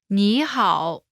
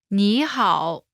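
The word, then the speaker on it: 你好: but translates as hello knee hall pronunciation note when there are two third tones in a row the first one changes to the second tone listen to the pronunciation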